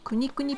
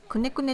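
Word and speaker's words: kunekune: 私のお目当てくにくにピックですねくねくねって書いてありますけど発音は国くにですこの豚は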